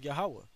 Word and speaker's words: Yahweh: pronounce it it says yahweh okay it's uh right here it says jehovah but there's no j there's no e or no v and no o's in the hebrew all right when you